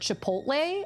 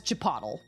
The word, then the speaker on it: Chipotle: I pron I I used to work at Quiznos and I pronounced the word Chipotle as chapatle for pretty much the entire time I worked there.